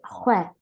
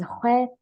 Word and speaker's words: xwe: But about pronunciation, so you need to be careful because we have another word which is XWE, and this means salt. So be careful, don't pronounce this one very long.